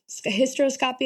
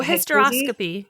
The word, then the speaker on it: hysteroscopy: It's like kind It's like a hyro hyroscopy. A lot of people call it Oh, hysteroscopy.